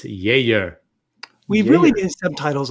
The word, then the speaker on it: Geijer: It's spelled Geijer. No, wait. I'm sorry. Is it? Yeah, Geijer.